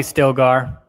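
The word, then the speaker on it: Stilgar: okay is it stiglar or stillgaard that's probably stillgar am i saying it wrong i probably am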